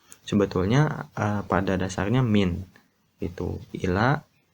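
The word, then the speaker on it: إلى: Ila itu lamnya agak panjang, ya. Ila dibacanya ila gitu.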